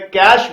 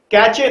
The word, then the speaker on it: cache: जैसा कि आप मुझे सुन पा रहे हैं, मैं कैश बोल रहा हूं, कैचे नहीं। अक्सर हम लोग देखते हैं कि कुछ स्टूडेंट्स कैश को या CACHE को कैचे बोलते हैं। ये एक गलत प्रोनाउंसिएशन है, ये एक गलत अप्रोच है। तो इस वीडियो के माध्यम से सबसे पहले तो मैं यहां पर ये करेक्शन चाहूंगा कि उसको आप कैचे नहीं, उसको आप कैश मेमोरी बोले तो ज्यादा बेहतर रहेगा।